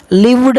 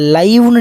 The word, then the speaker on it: live: LIVE அப்படிங்கிறது 2 விதமான உச்சரிப்புகள் இருக்குது. அதை லைவ்னு நீங்கள் உச்சரிச்சிங்கன்னா அதுக்கு பேர் நவுன், லிவ் அப்படின்னு உச்சரிச்சிங்கன்னா அதுக்கு பேர் வெர்பு. கிளியர் நினைக்கிறேன்.